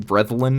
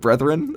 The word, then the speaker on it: Brethren: call me out on saying brein instead of Brethren that's fine totally F everybody gets one it's the the dorish pronunciation yeah that's true okay